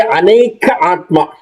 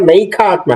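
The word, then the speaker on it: Anekātmā: Same way, Aneka Atma. You see that? Aneka, it's not Naika Atma. Naika Atma is Nakara. If you take the Nakara out, what is the real word, the real syllable behind it?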